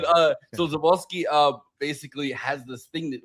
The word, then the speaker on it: Żuławski: What I was trying to like pronounce it perfectly, and it's like it's Żuławski essentially, but I'm like I can't, I'm not doing that. But they're like put an F in there.